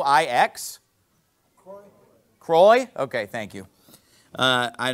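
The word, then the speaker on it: Croix: the Rose some French thing that I can't pronounce somebody help me out c r o i ex Cy Croy okay thank you uh I don't know French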